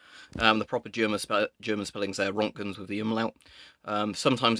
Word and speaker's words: Roentgen: So that's pronounced Roentgen or Roentgen, I believe is the correct pronunciation.